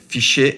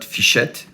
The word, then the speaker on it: Fichet: Hi, today we are entering the fabulous world of Fichet locks. So I said Fichet and not Fichet, which is the good pronunciation, Fichet in French.